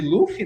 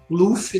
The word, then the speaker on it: Luffy: Porque essa questão do japonês, no som não tem o L, né? Não consegue pronunciar o L. Mas a romanização oficial do nome mesmo é com L. Mas se você for ver o anime no original japonês, eles não pronunciam o L.